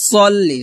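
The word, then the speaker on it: صلِّ: আল্লাহুম্মা হুমমা এখনো গুণনা করবেন আল্লাহুম্মা এভাবে পড়বেন না পড়বেন আল্লাহুম্মা আবার আল্লাহুম্মা সাল্লি আলা এখানে সাল্লি আলা হবে না হবে সল্লি সদ লাম জবর সলামজলি সাল্লি আলা আলা আলা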